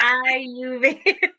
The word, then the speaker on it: Ayurveda: Do I pronounce it right? Ayurveda. Close, almost. Yeah. Ayurveda.